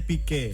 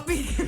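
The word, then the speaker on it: Piqué: Dibacanya Pique. Oh Pique.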